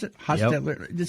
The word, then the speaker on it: Hostetler: Hostetler, is that how you pronounce it? Hostetler.